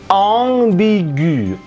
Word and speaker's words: ambigu: Nah, ini bacanya di bahasa Prancis adalah ambigu, ambigu. AM itu bunyinya sama dengan AN, ong ke bawah, ya, gentong gitu, bolong, ya, tolong tuh, ong, bi, gu.